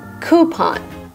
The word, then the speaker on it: coupon: Sometimes I hear coupon. I was thinking that we could put a coupon in the back. But in American English, the right way to pronounce this word is coupon.